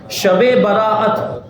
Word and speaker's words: شب براءت: براءت کہا جاتا ہے۔ تو صحیح تلفظ کیا ہے؟ شب براءت۔ ابھی کچھ دوسرے موقعوں